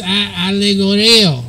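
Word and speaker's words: ἀλληγορέω: It's allegoreo, right?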